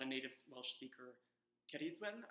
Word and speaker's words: Ceridwen: a native Welsh speaker, Ceridwen, I think, is like the more appropriate way to pronounce her name in Welsh.